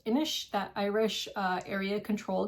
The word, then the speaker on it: Inis: I think it's pronounced Inish, that Irish uh area control game, like the big box version.